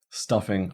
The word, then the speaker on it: stuffing: So stuffing, our first syllable has that primary stress.